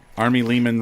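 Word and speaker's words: Ari Lehman: Something rhymes with demon. Army Lehman rhymes with demon, something like that.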